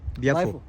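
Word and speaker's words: Biafo: बियाफो। हाँ बियाफो, उसको बियाफो ग्लेशियर बोलते हैं। बियाफो ग्लेशियर जो है वो थोड़ा सा प्रोनाउंसिएशन ऊपर नीचे होता है कि हर 12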